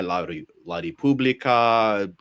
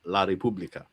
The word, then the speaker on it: La Repubblica: And since then, all of this stuff after these press conferences, these are reported by La Repubblica, you know, a lot of sources.